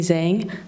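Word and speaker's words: Zheng: Zang. Uh, my first name is. That's spelled.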